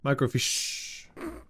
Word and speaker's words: microfiche: big H how do you pronounce that it's pronounced no idea micro fish emphasis is on the shh micro fish okay all right good we learned something today